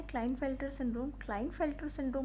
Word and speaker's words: Klinefelter: Extra x normal mail का genotype होता है 44 + XY, but here in case of क्लाइनफेल्टर syndrome, और इट is known as लाइनफेल्टर syndrome, के is silent sometimes, right.